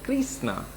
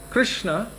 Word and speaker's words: Krishna: also from orissa but he says kristna and i've heard other people say krasna so it just depends on where you're from the accents are different krishna himself i say it like that because that's how i heard it from my gurudeva at the time of initiation he said krishna so krishna is the